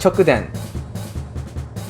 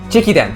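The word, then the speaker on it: 直伝: It's chokuden.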